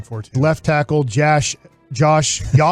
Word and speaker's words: Yosh: Yosh. Starts with a Y.